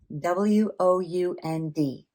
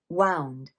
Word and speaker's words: wound: So you've got wound and wound, but the same exact spelling.